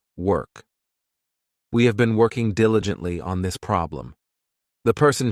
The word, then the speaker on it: diligently: Next, we have diligently. This adverb has 4 syllables, and the stress is on that first syllable, diligently.